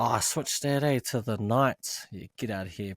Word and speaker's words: Knights: I was about to say Knights. I was about to pronounce the K.